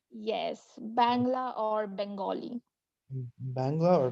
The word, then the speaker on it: Bangla: is called bangla right is that how it's pronounced yes bangla or bengali in bangla or bengali and how